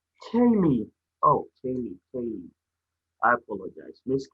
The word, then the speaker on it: Kaylie: Sorry, it's pronounced Kaylee. Kaylee.